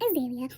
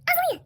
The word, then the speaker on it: Azalea: My name is Azalea. It's not Azalea or Azalea or any other pronunciations y'all want to come up with. It's pronounced Azalea.